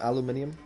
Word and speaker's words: aluminium: You know Australians pronounce aluminum aluminium?